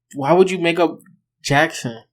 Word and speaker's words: Jaxn: take before you knew that's how you pronounced it jackson yeah it's j-a-x-n like i it took